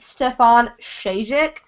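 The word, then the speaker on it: Stjepan Šejić: So I'm pretty sure it's pronounced Stefan Shajic.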